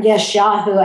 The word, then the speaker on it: Yeshayahu: Now go to Isaiah chapter 14, or Yeshayahu, actually a little more accurate in my pronunciation, verses 29 and 31.